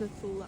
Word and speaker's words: Nacula: currently staying at the Blue Lagoon Resort in Nakula, pronounced Nathula Island, in Fiji.